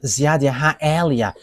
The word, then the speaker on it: Ziadiaha Elia: one you see now, Ziadiaha Elia. And that is not a Malagasy name, but that is the name from us, and that is my name, so I pronounce it as my father pronounced it, Ziadiaha Elia.